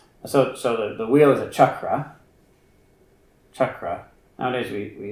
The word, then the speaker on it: chakra: Chakra. Is that how we say it? Chakra. Sounds better in English than chakra. It's exciting, but it's not so shocking. It's more just chucking. That is the correct pronunciation.